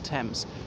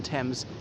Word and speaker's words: Thames: pronounced like that obviously the th in thames is not pronounced as a th as pronounced as a